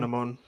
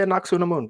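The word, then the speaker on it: Anck-su-namun: I think there's actually a more historically accurate way of pronouncing it, but I will say Anaxunamun because that's what they say.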